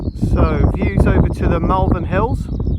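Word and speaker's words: Malvern: So, views over to the Melvin Hills. Molvin Hills, I think, is pronounced correctly.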